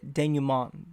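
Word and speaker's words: dénouement: Okay, denouement. The T is silent.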